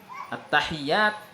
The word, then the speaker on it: at-tahiyyat: Di sini cara membacanya adalah at-tahiyyat dengan tasdid. Banyak di antara kita ya mungkin yang kurang memperhatikan ini. Jadi dibaca at-tahiyyat, at-tahiyyat. Ini yang benar at-tahiyyat, tasdidnya dia ya.